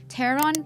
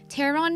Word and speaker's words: pteron: ตัวที่นำมาให้ทุกคนรู้จักวันนี้ก็คือ Pteranodon มาจากสองคำค่ะ คือ pteron และ anodon ค่ะ Pteron means wing. Pteron แปลว่า ปีก ค่ะ แต่ว่าความน่าสนใจของคำนี้นะคะ อยู่ที่ มันสะกดด้วยตัว PT แต่เป็น P ที่ไม่ออกเสียง เลยออกแค่ตัว T ฉะนั้น P-T-E-R-O-N Pteron means wing.